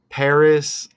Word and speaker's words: Paris: the Final Destination film Paris like Harris okay and remember we had the 2024 Paris Olympics okay rhyming with Harris and look at that